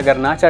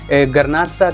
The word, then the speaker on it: Garnacha: किया, गर्नाचा डिस्कस किया, and natively ये स्पेन में गर्नाचा के नाम से जाना जाता है। तो थोड़ा सा वेरिएशन है प्रोनाउंसिएशन में, गर्नाच, गर्नाचा या गर्नाचा, तो थोड़ा सा डिफरेंस है।